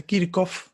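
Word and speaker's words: Kirchhoff: Creo que en verdad se pronuncia Kirkov, pero yo siempre lo escuché nombrado como Kirchov y voy a mantener esa forma de pronunciación.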